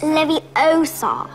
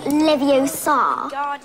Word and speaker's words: Leviosa: i can totally relate you're saying it wrong it's leviosa not livio you do it if